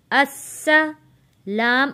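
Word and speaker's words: السلامُ: Hamza scene ज़बर अस, scene ज़बर सा, अस्सा। लाम अलिफ ज़बर ला, अस्सला। मीम पेश मु, अस्सलामु। यहाँ पे आपने मीम को मो नहीं पढ़ना।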